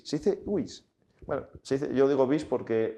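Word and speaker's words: vis: Y está bien preocuparnos porque si wish packing, como dicen algunos, Paco, no se dice bis, se dice wish.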